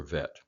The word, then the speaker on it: Vet: So again, in modern Hebrew, that would be a B for Bet and a V for Vet.